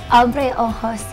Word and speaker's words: Abreojos: Abreojos Tequila.